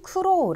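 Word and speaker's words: 苦労: 발음 은 " 쿠로 " 이며 , 끝 부분 의 긴 모음 소리 에 유의 하세요 .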